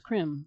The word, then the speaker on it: Krim: The Kali bija is Krim. It sounds like cream.